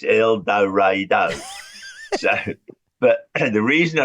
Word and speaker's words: El Dorado: these signs around saying this is how you pronounce our name it's not El Dorado it's eloro so but the reason I remember it was